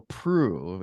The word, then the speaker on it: Proulx: I'm guessing the pronunciation is Proulx, and you can correct me now. Is that correct? Yeah, very good.